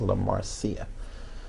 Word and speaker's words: La Marcia: Yeah, her name is La Marcia. So not Marcia. No, not Marcia. No. La Marcia.